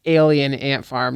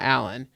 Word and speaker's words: Alien Ant Farm: It's Alien Ant Farm, not Allan.